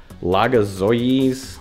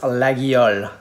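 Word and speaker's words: Laguiole: a lot better than i am it's the laga zoies like laga something something knives legoycies it's actually pronounced lagial lagyal these my buddy anton actually got them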